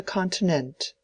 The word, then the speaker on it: continent: took place on the continent. He pronounced the last truly admirable word with the accent on the last syllable not as unaware of